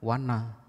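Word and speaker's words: vaṇa: Lalu ada tulisan yang mirip, V-A-N-N-A, polos N-nya, diucapkan wanna. Artinya apa? Artinya hutan. Lalu ada satu kata V-A-N titik bawah A, dibaca wana, artinya borok atau bisul.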